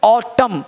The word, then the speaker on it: autumn: अब ऑटम यहाँ पे साइलेंट एम नहीं, साइलेंट एन लिखना पड़ेगा तब, क्योंकि एम के बाद एन क्या रहता है, साइलेंट रहता है। तो इसे ऑटमन, AUTUMN ऑटमन पढ़ेंगे, लेकिन पढ़ेंगे ऑटम, ऑटम, ऑटमन नहीं, ऑटम।